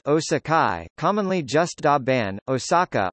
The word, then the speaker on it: 大阪市: Osaka Japanese, Da Ban Shi Hepburn, Osaka Shi, pronounced Osakai, commonly just Da Ban, Osaka, Osaka, listen, is a designated city in the Kansai region of Japan.